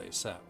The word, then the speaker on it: ASAP: pronounced ASAP, an acronym of as soon as possible.